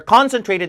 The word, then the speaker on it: concentrated: a 나옵니다 They are concentrated near subway stations or schools 자요 발음 concentrated고 읽으시는 분들은 점수 안 나옵니다 어차피 못 알아들으니까 컨 센이 아니라 컨 슨 자 강세가 없는 음전원 의로 약화시킨다 강세 발음편 강의에 나옵니다